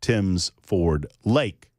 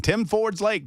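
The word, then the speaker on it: Tims Ford Lake: And so then they called it Tim's Ford Lake. Not Tim Ford's Lake. There you go. But the funny thing was, I'm there the first day and I'm saying Tim Ford's Lake, Tim Ford's Lake, Tim Ford's Lake.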